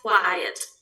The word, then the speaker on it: quiet: Se escribe quite. Hey, you are quite intelligent. Eres bastante inteligente. You are quite hardworking. Eres bastante quite. Quite. Y el otro es quiet.